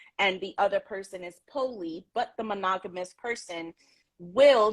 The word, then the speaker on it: poly: So just so you know, I pronounce it poly. So when I talk about it, I'm gonna say poly. Yes, so whenever you shorten it, it's like poly, yeah, polyamorous. Yeah. So I say poly because I have my Bronx, Brooklyn accent, and my pronunciation sometimes is quite different.